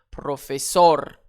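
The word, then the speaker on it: profesor: Professor, ici mon mot se termine par un R. C'est une consonne, ce n'est pas un N. Ce n'est pas un S. Alors, j'accentue sur la dernière syllabe.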